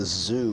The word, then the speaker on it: Zu: So I wouldn't have access to that for that fight against the zoo bird, that ZU. It's spelled ZU.